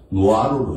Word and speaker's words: 노아로: 나로라고 할 때 나로는 우리가 외울 때는 읽을 때는 그냥 나로로 읽으면 안 돼. 노아로로 읽어야 돼.